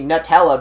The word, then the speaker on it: Nutella: And on one commercial, they did say Nutella, but they're wrong. It's pronounced Nutella.